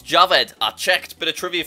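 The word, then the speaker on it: Jawed: lots of people think that his name is pronounced Jord but it's not it's Javed I checked bit of trivia for you so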